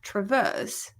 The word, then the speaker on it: traverse: blah BL Traverse Traverse it's not Traverse it's TR Traverse because the stress is on the verse Traverse Traverse Traverse Traverse Traverse